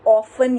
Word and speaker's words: often: T है उसके अंदर जो, वो है silent है.